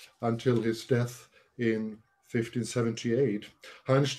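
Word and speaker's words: Hantsch: hunch the name is spelled like hand with an sch at the end or hanchus had enjoyed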